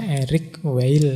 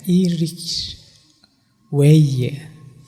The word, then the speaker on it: Eric Weil: Itu kalau pakai lidah Perancis, kalau pakai lidah kita mungkin membacanya Eric Weil kan gitu. Kalau pakai lidah Perancis mungkin itu membacanya Eric Weil. Ya lidah saya masih Jawa sih, Jawa di Perancis kayak. Sing penting ndak Eric Weil, tapi kalian mau baca Eric Weil juga ndak apa-apa lah.